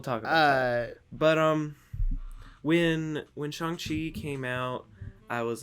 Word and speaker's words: Shang-Chi: It's and then it went from trust me, I thought it was Shang-Chi 2. Shang-Chi 2. then in the movie they pronounce it Shang-Chi.